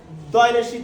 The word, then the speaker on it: the: ভাওয়েলের আগের যে টি এই সি থাকবে তার উচ্চারণ হবে দয়ীতে দি।